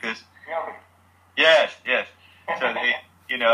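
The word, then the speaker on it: Mjölby: Mjolby.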